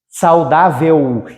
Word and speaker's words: saudável: assim que eu pronuncio saudável esse L da som de u Então se esse L